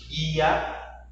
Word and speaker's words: guia: Observe os exemplos. Guia, queijo, quilo. Você não escuta a pronúncia da letra U.